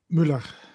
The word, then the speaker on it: Müller: First is, of course, Dvoretsky's Endgame Manual was revised by Carsten Muller. Hmm. How do you say the name? Muller or Mueller? Müller, Muller.